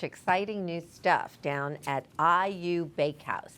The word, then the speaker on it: Ayu: Oh, they are doing such exciting new stuff down at Ayu Bakehouse. That AYU rhymes with Bayou.